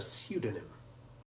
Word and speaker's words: pseudonym: of the prefix pseudo, in which the P is silent, which is from the Greek for false. If someone writes under a false name, he writes under a pseudonym.